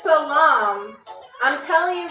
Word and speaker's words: salam: But it's salam. Salam. That's how they say it, okay?